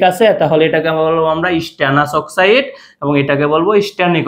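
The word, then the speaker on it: stannous: এটাকে বলা হয় স্টানাস উচ্চারণটা আস বলতে হবে ঠিক আছে শেষে ওকে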